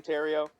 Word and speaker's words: Theriot: It's Ask him Terrio, for not yourselves. Theriald. I should put that in my Twitter bio. Because the way you actually say my last name. Do you guys remember Ryan Terrio?